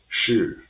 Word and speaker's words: 是: So 是 is its pronunciation as sh, as in the English word she. So if only sh, so it will be sh, 是.